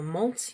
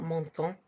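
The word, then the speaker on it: montent: waters, monter or monte, you don't actually pronounce the ENT there in the they form. It's not monton, it's just monte, okay? You pronounce it as if it's just the root of the verb.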